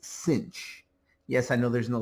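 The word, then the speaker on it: sinh: is often abbreviated s i n h and pronounced cinch. Yes, I know there's no c there. Uh that's just the way it's pronounced. Kosh and cinch of x.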